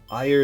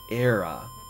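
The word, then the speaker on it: Éire: Ire is pronounced era. Really? I always thought it was Ire because of Ireland.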